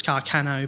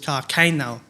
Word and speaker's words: Carcano: supposed to be pronounced is supposed to be pronounced as carcano but he pronounces his carcain now okay which is just like kill me sure